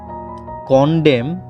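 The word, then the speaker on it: condemn: কন্ডেম দোষারোপ করা, কন্ডেম দোষারোপ করা। এন কিন্তু অনুচ্চারিত থাকছে, খেয়াল করুন।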